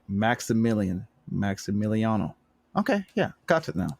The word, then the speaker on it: Maximiliano: forth um right i got to talk to maxielano i'm saying i'm saying it wrong maxie i just say max maximiliano hernandez thank you that i just i just